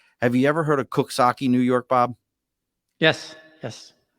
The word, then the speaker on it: Coxsackie: Have you ever heard of Coxsackie, New York, Bob? Yes. Now, have you ever seen how Coxsackie is spelled? Yep. Does it sound like it says No. Coxsackie? Nope.